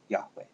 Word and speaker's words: Yahweh: y h w h there are actually no vowels there so we don't know how to pronounce it but most people say yahweh whenever lord appears in